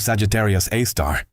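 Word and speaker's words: Sagittarius A*: The Milky Way contains one called Sagittarius A star, pronounced A star.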